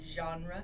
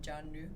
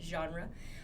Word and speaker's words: genre: spelling is g-e-n-r-e genre the pronunciation is genre not janu but genre uh so choose some